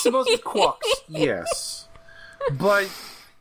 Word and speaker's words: GQuuuuuuX: I prefer calling it G Quax. Well, that's not how they pronounce it in the movie. It's supposed to be Quucks.